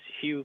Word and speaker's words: Hieu: And if you have any questions, my name is Hugh, pronounced as Hugh Grant, in case you wonder how to pronounce my name.